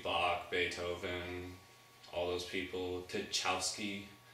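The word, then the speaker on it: Tchaikovsky: beethoven all those people to chowski that's how you pronounce it the guy that wrote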